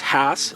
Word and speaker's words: Hass: avocado right here and it is pronounced hass after rudolph hass the original avocado tree